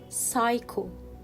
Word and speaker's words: psycho: recite so let's read these three words with silent letter p psycho psycho psychology psychology receipt receipt and still we